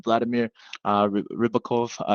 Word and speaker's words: Vladimir Ribakov: Our guest today is none other than Vladimir Ribakov.